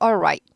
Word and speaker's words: all right: ok 같고요 좋습니다 발음 얼라이드 아니고 All right right 어려워요 발음이에요 왜요 l과 r이 발음이 다른데 이렇게 같이 있어서 잘하다 보면 얼라이시 돼버리면 안 돼요 얼하고 딱 뭐죠 혀를